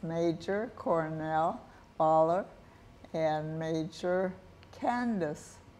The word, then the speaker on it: Voeller: do it before Christmas and it's major Cornell baller and major Candace baller yes right that's right that's right I pronounce it right you got it okay now